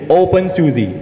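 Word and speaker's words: openSUSE: you say something bad I'm just going to pronounce it for you it's open Suzie oh okay cool I've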